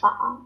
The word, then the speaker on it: phở: I think I pronounce it phở, pho. phở.